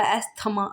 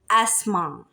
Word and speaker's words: asthma: अब आपने यूजुअली सुना होगा एस्थमा, एस्थमा, नॉट, इज not good pronunciation of इज एस्मा, एस्मा, T silent होगा।